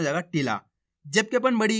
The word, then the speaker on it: टिला: इस प्रकार से और छोटी ई की मात्रा को टिला जल्दी से उच्चारण हो रहा है टिला और यहां पे खेच को हो रहा है टीला इतना फर्क है इनके अंदर ये आपको अच्छे से समझ